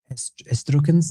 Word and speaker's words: Etruscans: You guys know how to pronounce that? It's the Etruscans. Do you know that? Etruscos in Spanish.